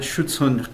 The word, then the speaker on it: Schutzhund: I can pronounce it for you, David. I would appreciate that. Yeah, it's United Schutzhund Clubs of America.